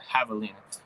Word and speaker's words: javelina: Oh, you don't know what a javelina is? It's not a patalina. It's a javelina. It's spelled with a J. Javelina.